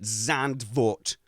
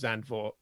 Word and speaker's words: Zandvoort: The one I always go with is Zandvoort, because that's how it's spelt, and it's the one I hear the most.